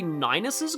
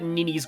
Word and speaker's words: Ninus: So I think it's actually Ninus's Grace, the pronunciation, but I called it Ninny's Grace, because, like, Ninian, of course, her ring is called Ninny's Ring.